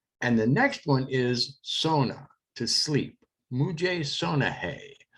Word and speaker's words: सोना: And the next one is sona, to sleep. Mujhe sona hai. And that's pronounced मुझे सोना है.